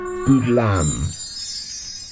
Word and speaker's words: Boodleam: are so yeah so today we are doing good lamb is how it's pronounced and it's uh it's based on a